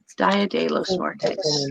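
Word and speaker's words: día de los muertos: as the day of the dead oh i butchered spanish my husband's probably laughing he's watching this dia de los muertos that's how you say it so i got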